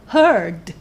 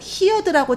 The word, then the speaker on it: heard: 그래서 이 hear 뒤에 d가 붙어서 이렇게 발음해요. heard, heard. 그런데 많은 분들이 이걸 heard라고 잘못 발음하세요. 그러니까 많은 초급분들이.